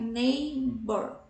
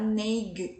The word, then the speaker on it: neighbor: Você vê aí que nós temos as letras, né? As consoantes G, H, né? GH. Não são pronunciadas, né? Então a gente vai neighbor, neighbor. A gente não vai falar neig, né? Não. São silenciosas.